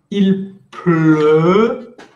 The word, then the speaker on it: pleut: Il pleut. Bouche de O, mais pronunciación de E.